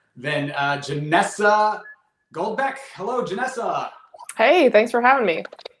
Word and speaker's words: Janessa: thanks for having me am i saying your name wrong janessa no i i mean as far as i know that's correct yeah okay cool well i'm gonna take it from you but that's the right one um thanks for joining